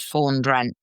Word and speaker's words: Fawn Drent: Fawn rhymes with dawn, and Drent rhymes with French. So my character is called Fawn Drent.